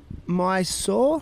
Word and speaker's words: Mysore: Anyway, so look, Loki, you were born in Mysore. Mm-hmm. That's the way to pronounce it in Yes, India.